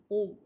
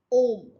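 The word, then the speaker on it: homme: So if your school is starting directly from ALF 2, so you can see that you may be pronouncing it home. It's not home, it's om.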